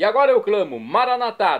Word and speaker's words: Maranatá: E agora eu clamo, Maranatá, do dialeto de Jesus, o aramaico, como dizemos nós católicos, com a tônica na última sílaba. Ou Maranata, como dizem nossos irmãos separados das comunidades evangélicas ou protestantes. Não importa, a pronúncia e o significado é o mesmo.